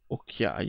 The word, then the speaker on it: Okai: Okai si pronuncia Occhiai, in realtà.